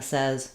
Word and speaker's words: says: The spelling looks like says, but it changes to the e vowel says. If you said says, don't worry. That's a common error pattern. And some British accents use more of a say than a says, but in American English, we say this word as says.